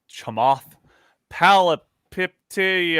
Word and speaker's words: Chamath Palihapitiya: And so one of the people that has actually been really interesting and outspoken is this guy named Chamath Palihapitiya. I don't know how to pronounce his name.